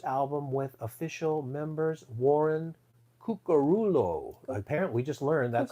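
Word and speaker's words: Cuccurullo: have to say it no karulo karulo remember he was on stage in Italy and he said this is the only place people can pronounce my name correctly and I'm a big offender myself because I say karillo but it's karulo karulo and Sterling Campbell official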